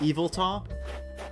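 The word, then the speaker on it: Yveltal: e that's all evil tall you know what's pronounced evil tall i thought i was ever for the longest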